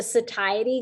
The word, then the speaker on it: satiety: The satiety gum, that is how you say it, by